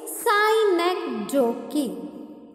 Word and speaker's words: synecdoche: Second one is synecdoche. Look at the word I pronounce.